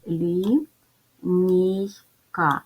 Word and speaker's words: лінійка: звуки і і А ділимо на склади так як у нас три голосних звуки то три склади лі нійка ставимо наголос лінійка позначаємо приголосні звуки перший